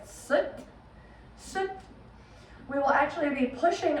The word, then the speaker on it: sat: So protruding that belly button out as you was wearing our sat, kind of pronounced sut, S-U-T sound almost in the English language.